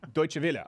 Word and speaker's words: Deutsche Welle: How do you pronounce this, Sven Computer? Dortmund? No. Deutsche Welle? Deutsche Welle.